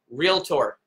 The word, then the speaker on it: realtor: have an amazing day remember real tour two syllables okay awesome guys have